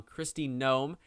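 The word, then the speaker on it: Kristi Noem: sorry i am sorry i have been pronouncing her name wrong christie gnome i need to get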